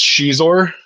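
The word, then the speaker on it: Xizor: did, and I have to remember the correct pronunciation, Prince Shizor from that book slash video game, and they remade the Luke and Leia from the book slash.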